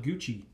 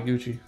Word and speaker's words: Gucci: gucci shout out bobby gucci that's the homie it was a name that sounded so sweet so seductive yeah cause it rhymes with coochie but that name was